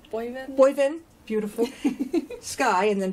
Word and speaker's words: Boivin: Boivin? Boivin. Boivin.